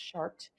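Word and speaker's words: Chartres: different that exist came from a cathedral in chart France it's c h a r t r s pronounced shart France there's a cathedral there and it is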